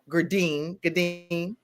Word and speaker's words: Gourdine: Gourdine. Dr. I'm going to call you Dr. Gourdine, right? Okay. Is it Gourdine? Like a lot of people, how I tell them, say good and dine.